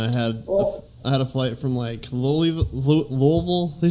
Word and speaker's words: Louisville: to Omaha, and I had a flight from Louisville. They say Louisville there.